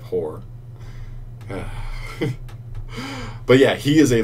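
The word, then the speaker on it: Hoarr: Like, it looks like it sounds different, but when you say it, it's straight up Whore.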